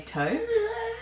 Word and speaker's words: taupe: love top top oh taupe top top taupe i had this conversation with katie on instagram she loves the way that i say talk because americans say toe and i just said taupe my mind is being